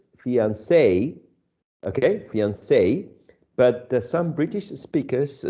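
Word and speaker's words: fiancé: it's it's interesting that some people would would prefer uh the pronunciation of the word in the original version it sounds like more french right fiance uh just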